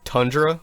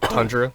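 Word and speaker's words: Toundra: believe this is pronounced tundra but it's spelled t-o-u so i believe it's just tundra but spelled differently they came out with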